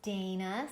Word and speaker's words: Dana: Hello, Dana.